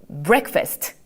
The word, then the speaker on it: breakfast: 우리 이거 어떻게 읽어주냐면 이게 또 이 A가 에 발음이 난다라고 생각하시면 돼요. 우리 한번 요 발음 조금 어렵지만 한번 도전해 보도록 할게요. 어렵지 않아요. break 하시면 돼요. 자, 갈게요. breakfast.